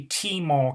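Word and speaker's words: Tmall: quick um alibaba's maul that's actually t maul capital t-m-a-l-l alex must think that the t is silent for some reason the apple watch rollout represents another milestone for mall alibaba said on italy's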